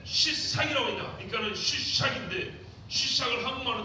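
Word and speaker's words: שישק: 수사는 시사 이렇게 발음이 되는데 여기 히브리어로 어떻게 되냐면 쉬 발음이 안 되었죠? 쉬샥 이렇게 됩니다. 히브리어 쉬샥.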